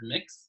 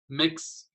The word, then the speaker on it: Mx: And it's pronounced a lot like the word mix. So it would be Mix Joey Lopez, or Mix Lopez, right?